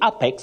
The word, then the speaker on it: apex: on grammar and vocabulary so some people will say Apex because of what the eyes see without knowing that the first letter that is a takes its name as the sound in that word so